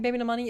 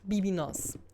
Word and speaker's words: Baby No Money: The biggest meme regarding Baby No Money is that people are pronouncing him wrong, and the biggest, the most that people say wrong is Bibi Nos. Instead of Baby No Money, they say Bibi Nos.